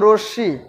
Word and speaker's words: রশ্মি: যেমন পদ্ম, ছদ্ম, রশ্মি, এই যে আমি তিনটা শব্দ উচ্চারণ করলাম, এই তিনটার কিন্তু একটার মধ্যেও মটা উচ্চারিত হয় না, কিন্তু সংযুক্ত ব্যঞ্জন বর্ণের সাথে কিন্তু মটা আছে।